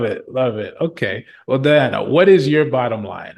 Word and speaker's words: Dahiana: i a n a and yes it's just pronounced Diana Diana nice yep that's where